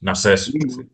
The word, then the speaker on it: Narses: Narses. Narcés. Narses. con acento en la E.